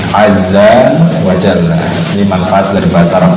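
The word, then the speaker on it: عز وجل: Jangan salah ucapannya, jangan Ajza wa Jazza wa Zalla, enggak. Tapi Azza, Ain, Zal, Jim, Lam. Azza wa Jalla.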